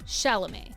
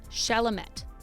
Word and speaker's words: Chalamet: It's pronounced Chalamet, not Chalamet. As with many languages, in French not every letter is pronounced the way it's written, which can make things like saying Timothée Chalamet slightly difficult.